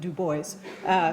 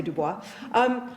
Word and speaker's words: Du Bois: Du Bois, I one time was corrected in Britain for saying that, but he pronounced it Du Bois. He did not say Du Bois.